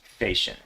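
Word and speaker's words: Fechin: his last name is spelled f-e-c-h-i-n and it's pronounced facial i think my audience is probably i i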